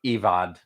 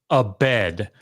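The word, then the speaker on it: עבד: It's not ivad. Can I pronounce it, because I think this is really important, right? Yeah, man. It's a bed, right? That's how you have to do it. You have to say a bed, right?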